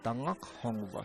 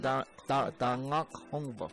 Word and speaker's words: Tangakhongva: Tanakongva. But if you said it in Hopi, it would be pronounced Tangakhongva. It comes from Tangakhongva, from down here. In your throat.